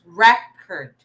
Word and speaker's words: record: is record okay so the stress is in the first syllable because it's a noun so class record record so you see